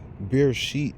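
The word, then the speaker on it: Bereshit: B is the yeah beer sheet is how you say it in Hebrew how you say the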